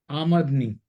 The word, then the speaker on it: आमदनी: शब्द है आमदनी, लेकिन उच्चारण इसका बहुत गलत हो जाता है। लोग इसका, हम जनरल उच्चारण क्या है, हम करते हैं आमदनी, आमदनी ही करते हैं हैं? या जी जी आमदनी सर। करते हैं। अब आमदनी अगर देखेंगे तो आम दो एक, दनी एक दो, लेकिन उर्दू लैंग्वेज जो कहती है वो कहती है कि नहीं, ये गलत उच्चारण है।